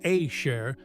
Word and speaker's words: asher: The word asher pronounced ashare means who, which or that.